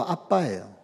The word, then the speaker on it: 아빠: 발음이 아람어로도 아빠예요.